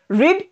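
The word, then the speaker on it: read: যেটা যেটা আছে দেখো একই স্পেলিং আছে কিন্তু উচ্চারণ আলাদা প্রনান্সিয়েশন আলাদা হবে কিরকম হবে রিড রেড রেড তার জন্য দেখো ব্র্যাকেটে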